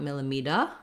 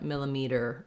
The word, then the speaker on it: millimeter: for american english again you want a tight er sound at the end not an uh not millimeter but millimeter er again you can build